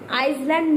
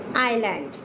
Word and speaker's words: island: एंड I and L, when you will never pronounce S, you will always keep on the silent mode to S. Okay? Island, Iceland, no, it is wrong pronunciation. Island.